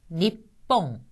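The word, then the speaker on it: 日本: 것이 일본이란 뜻을 나타내는 니뽕 이때도 니 한다 조금 쉬죠 니뽕 니뽕 자 그다음에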